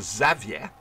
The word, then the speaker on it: Xavier: you see every time there's a mission Professor Xavier which is how you pronounce his name properly goes to me my